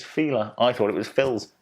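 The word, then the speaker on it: Fila: it's not an excess like feeler the shoes it's not phil's it is feeler i thought it was phil's it's feeler anyway next correct answer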